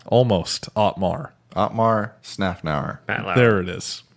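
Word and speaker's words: Otmar Szafnauer: Their new team principal has a very hard name to pronounce. So Jeff, Omar Snafnauer. almost Otmar. Otmar Snafnauer.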